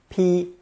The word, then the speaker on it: 披: It's pronounced first tone, p, p.